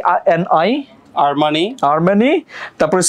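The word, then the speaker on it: Armani: হচ্ছে এই আর এম এ আই এন আই আরমানি আর্মানি তারপর সি ই এল আই এন ই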